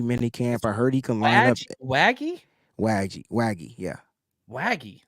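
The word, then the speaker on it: Waege: camp I heard yeah wagy like Shaggy like Shaggy and wagon I didn't know all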